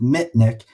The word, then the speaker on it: Mitnick: I was going to say me because it rhymes with Mitnick, but it's Mitnick.